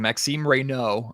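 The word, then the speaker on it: Maxime Raynaud: Yeah, I'm working on my French and uh I I'm I'm working on the pronunciation. Maxim Reo, I I was mistakenly pronouncing the D last night.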